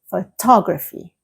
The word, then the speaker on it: photograph: Did you hear that the stress is in different parts of the word? Photograph, the stress is on the first part. Photography, the stress moves to the second part of the word, like photographer. And photographic, instead, is right at the end.